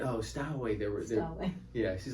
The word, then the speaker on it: Stowe: So I don't think it's pronounced Stowaway. I think it's Stowe.